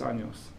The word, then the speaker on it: años: So it's an A. Which sound does that make? No. It says, so if the end's on there, it says yos, años, Años. años, okay?